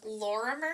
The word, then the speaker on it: Lorimer: was that name again Laura Murray I think is how you say it it's l-o-r-i-m-e-r I was thinking he